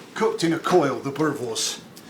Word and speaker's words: boerewors: In actual fact, we have a sausage here, which is a South African sausage called a boerewors. You have to roll your Rs, apparently.